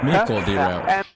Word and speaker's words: Michiel de Ruyter: Michiel de Ruyter. Okay, hold on. So I've been pronouncing it wrong. Michiel de... Of Michiel de Ruyter. Yeah. Ruyter. Okay. Michiel de Ruyter.